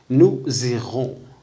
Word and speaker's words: nous irons: كما قلنا في الدروس السابقة أن اس إذا وقع بين جوج الحروف تاع الشكل ينطق زاد.